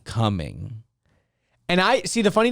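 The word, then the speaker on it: Cumming: a real place and it's not even just spelled like c-o-m-i-n-g like the word coming it's spelled c-u-m-m-i-n-g like like coming coming and i see the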